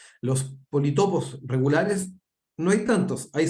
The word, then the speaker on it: politopo: encontrar que efectivamente es politopo. Yo lo voy a pronunciar mal todo el rato porque toda mi vida he dicho polítopo. Como polígono, polítopo, pero en realidad es polígono y politopo.